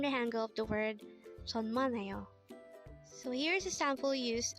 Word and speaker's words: 천만에요: 천만에요.